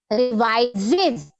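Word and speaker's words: revises: He reverses नो आपकी pronunciation के लिए बोल रहे थे बेटा. ही रिवाइजेज. क्या है इस वर्ड की प्रोनाउंसिएशन? रिवाइजेज.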